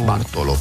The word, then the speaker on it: Bartolo: Est-ce que je prononce bien? Bonjour Bartolo. Isabelle, bonjour à tous. Bonjour Bartolo. Alors, comment on dit Bartolo? Bartolo.